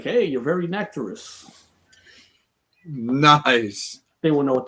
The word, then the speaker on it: Nectarous: It's very Nectarous. How do you pronounce it? I'm sorry, I suck at Nectarous. It's like nectar and then no worries.